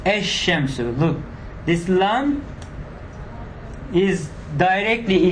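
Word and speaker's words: الشمس: do this mistake like al-shams or something like that. Okay, the definite article is not pronounced as al, but instead the lam assimilates to the first letter. It becomes ash-shamsu.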